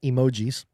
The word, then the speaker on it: emoji: Apparently that is not how you pronounce it. It is emoji emoji because in Japanese e means image, art and g means word. So it's art word emoji. It is not as Americans think emotions because it's, you know, emoji.